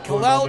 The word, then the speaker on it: Kal-El: Kal-El is spelled K-A-L-E-L. If you are a Superman fan, that is the name of Clark Kent. Kal-El.